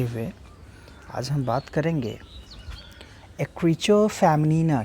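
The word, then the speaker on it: écriture féminine: आज हम बात करेंगे एक्रीचो फेमिनिना की। फ्रेंच टर्म है, अगर इंग्लिश प्रोनाउंसिएशन की बात करें तो एक्रीचर फेमिनिन बोलते हैं इसको, अदरवाइज़ एक्रीचो फेमिनिना, ये फ्रेंच प्रोनाउंसिएशन है।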